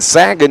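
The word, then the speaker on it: Sachen: that name yeah and Sagen is not how I would have pronounced it no who would have thought a g sound with ch nobody Isaac hits his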